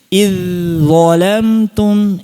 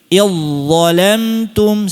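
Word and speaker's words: إذ ظلمتم: Banyak yang kelirunya itu, zalnya masih dibaca tipis. Iz zholamtum, iz zholamtum. Nah, itu keliru. Yang benar? Iz zholamtum, silakan. Jadi, langsung tebalkan, iz Nah, gitu. Jangan iz, jangan. Iz Kalau iz, berarti belum idghom, masih izhar.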